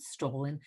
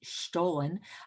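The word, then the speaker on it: Stollen: and stolen and again i was mispronouncing it i found out for my german german friends it isn't stolen it's stolen but this is just something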